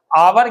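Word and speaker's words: hour: आवर के अंदर H silent होता है, केवल ओ साउंड से इसका उच्चारण होता है, जो कि वॉवेल साउंड है, इसलिए एन का यूज करेंगे।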